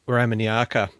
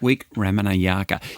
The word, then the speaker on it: Wikramanayake: Wikramanayake. You know, the great thing about Sri Lankan names broadly is that they are spelt phonetically.